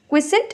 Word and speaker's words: quiescent: Quiescent is an adjective. Quiescent, ठीक है, quiescent is the correct pronunciation.